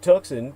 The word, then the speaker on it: Tucson: comom is spelled as you would tuxen Tu CS o n put the word the in front of it the Tucson murders.